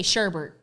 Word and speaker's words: sherbet: I've never— okay, East Coast, we say Sherbert.